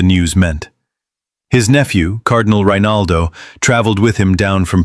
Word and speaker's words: Rinaldo: A year earlier, in September 1252, Cardinal Rinaldo, pronounced Rinaldo, the church official responsible for overseeing the poor ladies, had approved her rule on the Pope's behalf.